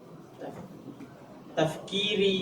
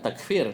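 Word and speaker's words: تفكير: apa bacanya ulang aksir min tafkiri ya jangan takfir takfir mengkafirkan kan. Hm. Tafkir terus wim alaihi ya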